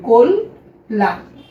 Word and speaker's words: কল্যাণ: এবার প্রিয় শিক্ষার্থী আরেকটা অতিরিক্ত কথা তোমাদের মনে রাখা লাগবে যদি শব্দের মাঝে বা শেষে জফলা থাকে তাহলে তার আগের যে বর্ণ আছে সেই বর্ণের সাথে কিন্তু একটা ওকার উচ্চারণ করা লাগবে।